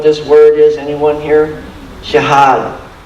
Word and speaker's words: jihad: word is anyone here jihad that's how you say it in Arabic and that's another study